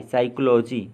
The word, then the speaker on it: psychology: PSYCHOLOGY, साइकोलॉजी मनोविज्ञान।